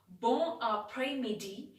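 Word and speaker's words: bon après-midi: which means good afternoon it is spelled as bong a pre media instead of greeting good afternoon by saying bon apres midi you can simply say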